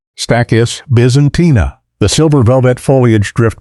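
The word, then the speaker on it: Stachys byzantina: Pronounced stackis Byzantina.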